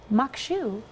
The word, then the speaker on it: maque choux: in the show and find out how this mock shoe turns out I said it right yes we'll